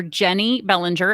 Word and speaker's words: Jennie Bellinger: so uh my my social media handles are jenny bellinger and that's j-e-n-n-i-e jenny uh j-e-n-n-i-e bellinger b-e-l-l-i-n-g-e-r